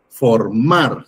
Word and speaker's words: formar: Entonces es última, penúltima, formar, sílaba tónica mar. Entonces, la sílaba tónica es mar, por lo tanto también es una sílaba aguda.